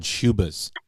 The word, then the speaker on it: Schubas: Look into playing at this place called Schubas. Schubas? How do you spell that? It's SCHUBAS.